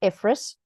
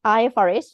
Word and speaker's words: IFRS: well for many years I called IFRS ephis apparently that's that's like um emphasizing the wrong syllable right it's IFRS not Eis many people still say eus but anyway so